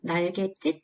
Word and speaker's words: 날갯짓: 표준 발음은 날갯짓, 날갯짓 둘 다 가능하고요.